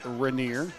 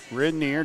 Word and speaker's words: Rainier: Kaya, and I pronounce it wrong, it's Rainier. Rainier, just how it's spelled, my bad.